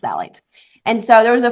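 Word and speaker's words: phthalates: of BHA and phalates I hope that I'm pronouncing that right but I'm pretty sure it's pronounced phalates and so there was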